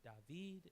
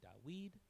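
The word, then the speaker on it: דָּוִד: And so so for example, his name is not David, it's actually Dawid, is how it would be pronounced.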